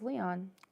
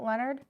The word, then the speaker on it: Leonard: Leon Kowalski November 19 I thought it was Leon Leonard is it Leonard have I been saying it wrong yes I even typed it wrong then on the thing Michigan Mysteries has Leon it's Leonard Leon Leonard let's go okay guy I'm